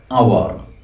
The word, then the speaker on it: hour: vowel sound example an hour here and our h is silent it is pronounced as our mp3 m m even